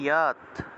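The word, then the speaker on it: যৎ: যত আছে উচ্চারণ হবে ইয়াত, যত থাকলে ইয়ত উচ্চারণ, ইয়ত, তারপর দন্তস্বয়ের নিচে বফলা,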